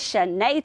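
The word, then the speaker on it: chaîné: Here's another word where the CH normally makes a ch sound, but here it's making a sh sound. A lot of times that happens in the French language.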